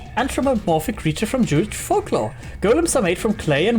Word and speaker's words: GOLM: GM much to surprise this ends up being pronounced like Golem anyway what the [